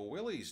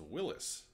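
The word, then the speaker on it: Willys: Hey, it kind of looks like a Willy's Jeep. Well, you're actually wrong, because it's not pronounced Willy's, it's pronounced Willis.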